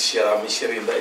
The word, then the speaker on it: Shirami Shirinda: My name is Shirami Shirinda. It's a rhyming like surname and name.